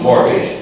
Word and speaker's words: mortgage: mortgage it's all and the pronunciation is almost a bit as if the tea is not there is some people look at himself North gauge no mortgage mortgage as if it was no teeth mortgage to make a payment